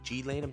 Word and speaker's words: Ghislaine: You have Ghislaine also, or G-Lane. I don't know how to G-Lane.